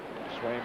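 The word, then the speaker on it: Sveum: And Swaim, S-V-U-E-M, it's 1-1 now, is Norwegian. Pronounced Swaim.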